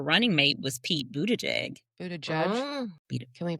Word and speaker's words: Buttigieg: Buddha Judge. Mm. Can we pronounce his name right?